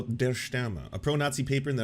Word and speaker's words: Der Stürmer: How to pronounce Der Stürmer. Is it going to be Die Stürmer? Der Stürmer. Der Stürmer.